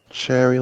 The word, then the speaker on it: Cherri: Cherry like the berry.